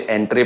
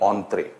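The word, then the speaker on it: entrepreneurship: एंटरप्रेन्योरशिप, ये कई बच्चे एंट्रे पढ़ते हैं, ये प्रोनाउंसिएशन रॉन्ग होती है, ऑन्ट्रे, ठीक है, एंटरप्रेन्योरशिप।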